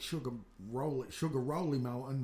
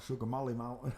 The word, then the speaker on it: Sugar Rolly Mountain: Sugar Rolly Mountain, not Sugar Molly Mountain.